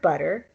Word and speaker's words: butter: That inside sound is the R flap. Butter, butter. I know we spell it with T's in English, but it's actually a flapped R.